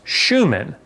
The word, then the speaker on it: Schumann: Shoe, man. Well, if I put these together, shoe and man, you could pronounce Schumann.